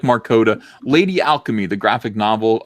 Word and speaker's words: Markota: Is it Markota or Markata? Markota. Yeah, you got it right this time. Yeah. Awesome. It is Bay. It's like the state Dakota.